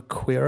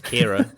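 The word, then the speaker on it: Qi'ra: did you call a queer er what's that spelt with the Q's of my brain instantly thought that I know it's Kiera but I said that queer oh that's funny oh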